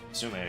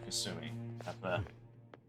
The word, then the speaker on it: Kasumi: Sumire, are you okay? Thanks for your concern. But I'm fine, really. I said... Let's go. I said it wrong, it's Kasumi.